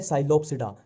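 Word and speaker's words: Psilopsida: Pteridophyta में इसमें P silent ही चलता है, जहां भी पी आ गया वहां साइलेंट ही चलेगा। अब देखो ये है साइलोप्सिडा, साइलो और ये साइलो, ठीक है।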